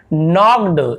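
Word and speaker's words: knocked: के दिख रहा होगा, आप इसे के को नहीं पढ़ना है, साइलेंट होता है। के यदि एक साथ लिखा है तो यहाँ पे के साइलेंट होता है, तो एन से पढ़ते हैं। नॉक्ड, नॉक्ड ऐसे नहीं पढ़ेंगे, इसलिए बोलता हूँ सुनिए, ध्यान से सुनिए। अगली बार जब हम नॉक्ड पढ़ेंगे ना, नो, नॉक्ड, नाइफ, नी,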